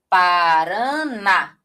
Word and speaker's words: Paraná: Parana. Olha só, porque o na ele é muito mais forte.